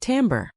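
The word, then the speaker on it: timbre: That's spelled tbr and it's pronounced tambber.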